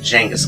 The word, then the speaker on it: Genghis: By the way, that is in fact Genghis Khan with a hard G, because he was the original hard G. Bad jokes aside, in other languages his name often starts with a CH or a J, but his name came to French and then English using a hard G, hence the confusion.